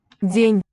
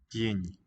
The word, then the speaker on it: день: The soft sign, I think, just kind of modifies the consonant. So the sound may be more of a ñ, as in señor. День. День.